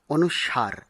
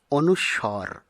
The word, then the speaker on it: অনুস্বর: উচ্চারণ হলো করমর্দন অনুস্বর এই বর্ণটি আমরা অনেকেই অনুসার এরকম উচ্চারণ করে থাকি যা অশুদ্ধ শুদ্ধ উচ্চারণ হবে অনুস্বর আর তারপরেরটি অনেকেই আমরা ভুল বসত বলে থাকি